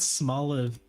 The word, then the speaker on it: Smoliv: Small Ave, I sleep. Small Ave, I wake. They're actually pronounced the same way, Meru. They're both Smoliv. Smoliv and Smoliv.